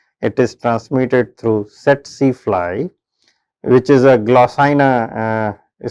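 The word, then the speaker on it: tsetse fly: call it as a set cly. Okay, here T is silent just uh for your information. It is transmitted through set sealy which is a glossina uh species which is found in suburban Africa.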